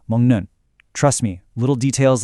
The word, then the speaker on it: 먹는: Also, in a word like mongnun, the K sound at the end of mug actually softens into an ng sound before that next consonant. So, it sounds more like mnun.